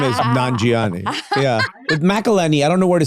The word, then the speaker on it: McElhenney: You, Rob McElhenney, and I.